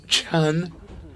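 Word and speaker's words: 川: vertical lines which taken in isolation I pronounce a Chan referring to a waterway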